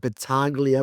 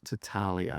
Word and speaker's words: Battaglia: I always pronounce it Battaglia but I've just been told the G is silent. Battaglia.